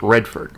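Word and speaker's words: Reedford: It's actually spelled Reed Ford, but they pronounce it Redford, like Robert Redford.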